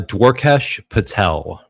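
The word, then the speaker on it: Dwarkesh Patel: Uh Dwaresh Patel.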